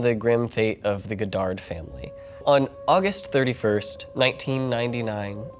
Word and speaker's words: Godard: then all the videos i started to watch everybody it's pronounced goddard okay and yeah that